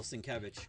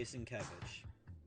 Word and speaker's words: Sienkiewicz: Because he puts Kev, so it's got it. Because, yeah, he tries to phonetically break it down, and he always puts K-E-V in large letters.